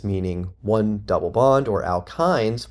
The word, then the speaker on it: alkyne: The suffixes for alkenes, meaning one double bond, or alkynes, y n e is pronounced -yne, alkyne, for one triple bond.